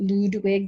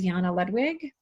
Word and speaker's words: Ludwig: I'm kind of glad that my family doesn't pronounce it Ludwig, because then I'd have to write Lud on state paperwork, and that seems kind of cheeseball.